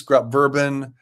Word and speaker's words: Grupp-Verbin: Denise Grupp-Verbin, rhymes with bourbon.